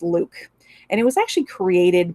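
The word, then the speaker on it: LIWC: a very very interesting methodology it's this is pronounced luke and it was actually created by a social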